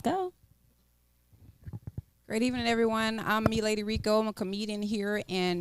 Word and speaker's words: Me Lady Rico: me lady Rico that's m e l a d y r i c o and it's pronounced me lady Rico well I'm just going